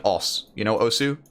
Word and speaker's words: osu: Something like OS, you know Osu? It's pronounced OS, but most people know it as Osu.